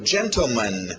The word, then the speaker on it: gentleman: Continuando, gentleman. Tivemos lady e ladies, né, senhoras. Então, agora, gentleman. Pronúncia rápida geralmente vai tirar esse T.